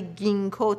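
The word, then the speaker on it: ginkgo: و بیلوبا گیاهی هستش که جینکو نوشته میشه ولی گینو تلفظ میشه که من معمولا اون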